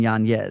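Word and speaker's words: Yanez: So, if I was a host of a show and I had trouble saying that, I would just put another Y in the middle of it. Adrien Yanz.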